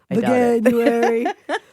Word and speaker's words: Veganuary: Veganuary. Veganuary. I think it's Veganuary. It's supposed to rhyme with January.